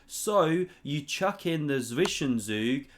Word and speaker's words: Zwischenzug: So you chuck in the Zwischenzug, that's how you say it properly in German, an in-betweener move.